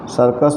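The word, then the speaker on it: circus: आर सी यू यस, देखिए यहाँ सर्कस में सी के बाद, पहले सी के बाद आई है, इसलिए इस पहले सी को स पढ़ा जा रहा है।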